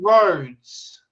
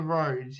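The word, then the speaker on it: Rhoads: get it who is it Steve vanzan Randy roads Randy roads I have actually heard yeah roads is spelled r h o a DS as opposed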